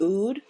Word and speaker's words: oud: So I know, a lot of people use, I think it's pronounced oud, O-U-D, rose, lavender.